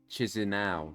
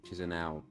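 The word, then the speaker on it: Chișinău: As we see this capital, which I will not try and pronounce. Yeah, well, Chisinau. There we go, Chisinau over there.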